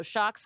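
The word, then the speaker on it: Sjokz: about in a second, known as Shocks, but it's spelled with an SJ, not H, whatever.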